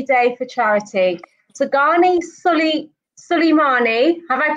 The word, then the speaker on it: Souleymane: So Ghani Souleymane, have I pronounced your name correctly? Yeah, Souleymane.